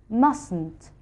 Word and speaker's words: mustn't: Note that we do not pronounce the T in mustn't. The correct pronunciation is mustn't.